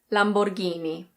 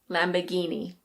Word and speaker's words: Lamborghini: My Italian's not very good, but I know that in Italian it's something like Lamborghini. Lamborghini. In British English we say Lamborghini. Lamborghini. In American English the R is pronounced, so people say Lamborghini.